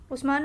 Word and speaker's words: Usman: लिखें, उस्मान लिखें, तो उस्मान को उथमान भी लिखते हैं और प्रोनाउंस भी उथमान कर सकते हैं या फिर उस्मान कर सकते हैं, जिसमें भी आप कंफर्टेबल हो। यहाँ पे जो है उस्मान रज़ियल्लाहु तआला अन्हु वॉज